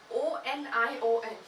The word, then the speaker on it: onion: And O-N-I-O-N. Here there is no Y at all. It's I-O-N, but it's pronounced as onion. There is also a sound of Y or y there.